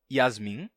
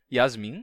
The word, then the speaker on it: Yasmin: um pouco mais livre se você pensar num nome como Yasmin você pode pronunciar em português Yasmin em duas sílabas Yasmin ou você pode dizer Yasmin Yasmin ela se chama Iasmin não soua totalmente Alienígena aos nossos ouvidos dizer Yasmin em vez de Yasmin já em inglês se